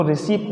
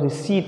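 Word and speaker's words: receipt: तो इसको रिसीप्ट नहीं, हम क्या बोलते हैं बेटा, रिसीट बोलते हैं।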